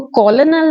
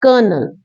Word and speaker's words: colonel: Second word देख लीजिए, COLONEL। इसको कॉलोनल नहीं कहते, इट्स कर्नल।